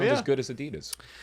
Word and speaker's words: Adidas: So Adi Das, right? And that's how most people say it around the world. Yes. Yes. We're as Americans, we say it wrong. like it's not Adidas. Um I will say that so that y'all know what I'm talking about, but it is Adidas.